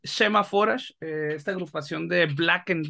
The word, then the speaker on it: Shemhamforash: la entrevista con semáforas se lo pronuncie bien semáforos yo siempre lo pronuncié enforage lo cual pues exactamente pero bueno es semáforas esta agrupación de Black